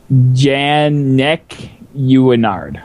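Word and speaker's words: Jannequinard: Janicanard? Huh? Janicanard? Janaquinard? Janacanard. Janaquinard. Janak. Okay, it's actually pronounced Janek Uinard. There you go. It's a little bit. It has a little bit of French in it.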